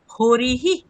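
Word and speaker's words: হরিঃ: হরি এখানে ইকারের পরে বিসর্গ আছে। তাই হকারের সাথে ইকার যুক্ত হয়ে হরিহি এরকম উচ্চারণ হবে।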